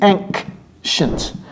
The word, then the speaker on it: ancient: Et vous voyez comment je prononce le C, ancient.